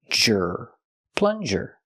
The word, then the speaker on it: plunger: a plunger pronation plunger use the short uh sound like cup and up plun plus the J sound like in juice and jump J plunger this is called a